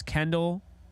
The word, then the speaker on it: Kendall: By the way, Jake, by the way you said my name wrong, LOL, it's Kendall, like Dell. Computers, not Kendall.